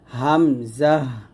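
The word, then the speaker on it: همزة: ভাবে হা এরকম তারপর হামজাহ দেখুন হামজা উচ্চারণটা আমরা অনেকে ভুল করি এটা বানানটা দেখুন হা মিম জবর হামজা হা জবর জাহ হামজাহ হামজাহ হামজাহ এরকম তারপর ইয়া জিহ্বার মধ্যখান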